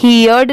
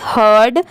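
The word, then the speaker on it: heard: एच ई ही हर्ड इसे यर्ड नहीं पढ़ेंगे इसे क्या पढ़ेंगे हर्ड एच ई ए आर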